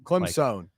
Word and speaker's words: Clemson: Whereas Clemson is Clem like son Clemson.